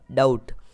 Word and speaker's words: doubt: अगला वर्ड है DOUBT, यानी DOU को हम डाउ पढ़ेंगे और B हमारा साइलेंट रहेगा और T को हम ट पढ़ेंगे, तो ये हो जाएगा डाउट।